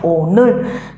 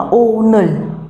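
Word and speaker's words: 오늘: Ví dụ như là từ hôm nay chúng ta sẽ đọc là ồ nơ, chứ chúng ta không đọc là ô nơ.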